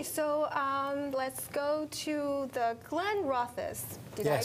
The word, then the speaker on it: Glenrothes: 最好的就是它这个价格也不是很贵，因为它在这个法国也算是从法国来的一个很好的品牌呢，它只卖12块9毛5，就是这4种酒卖12块9毛5，然后这种酒因为它是 organic 就贵1块钱。要卖13块9毛5，所以呢，虽然说您看它是这样的包装，但是其实它是，算是物美又价廉，也是非常好的。Okay, so let's go to the Glenrothes. Did I pronounce well it right? done. Yep. Okay, because I know nothing about whiskey. Okay, Glenrothes.